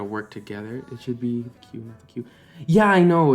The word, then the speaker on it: Qu: yeah it's q u even though you pronounce it singular q it's done uh right